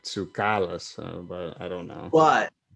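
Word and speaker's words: Tsoukalas: yeah i think the the emphasis should be on the ka is where the accent would be if it was in greek but it would be like tsukalus but i don't know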